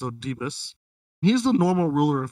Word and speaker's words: Oedipus: Oedipus, I think it's pronounced. It's Oedipus.